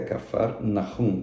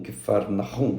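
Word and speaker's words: Cafarnaum: Termo, a pronúncia correta é Cafarnahum, Kfarnahum, né? Termo em hebraico.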